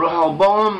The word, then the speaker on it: Rehoboam: Then, after the death of King Solomon, his son Rehoboam, or Rehoboam as it's pronounced in English transliteration, Rehoboam became king.